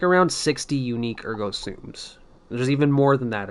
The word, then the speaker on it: Ergo Sum: is my dupes on Ergo Sums. I recently learned that it's pronounced Ergo Sum, even though I'm like inclined to call them Ergo Sums.